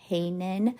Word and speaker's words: Heinen: So then Heinen is spelled Heynen, like Heinen.